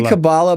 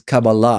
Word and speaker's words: Kabbalah: I mean, I say Kabbalah, but actually the proper pronunciation is Kabbalah.